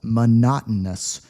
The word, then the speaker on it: monotonous: Keep in mind that most people do not pronounce the T here. Yeah, we're a little bit lazy when we speak English, so we don't say monotonous. Replace it with an N instead. Monotonous.